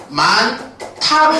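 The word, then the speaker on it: 많다: 단어가 있을 수 있습니다 자 요런 단어가 있는데 발음하게 되면 어떻게 되는 거냐 만타로 발음된다이 말이지 그럼 얘가 타로 발음될 수 있었던 이유는 뭐 때문에 그러느냐요과 예사소리 디귿이 서로 결합 앞에서 뭘로 난다 귿 발음이 거센 소리로 됐다 두 개의 의문이 만나서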